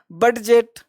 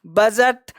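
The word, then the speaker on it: budget: बहुत सारे लोग इसको पढ़ लेंगे ब्रीडज, ब्रीडज, बडजेट, लेटजर, ऐसे नहीं पढ़ा, एडज, रीडज, ऐसे नहीं पढ़ना है। इसको पढ़ना है ब्रीज। तो बोलो डी चुप हुआ कि नहीं, इसी को कहते हैं साइलेंट लेटर। बजट, बोलो बजट है कि बजट है, बजट।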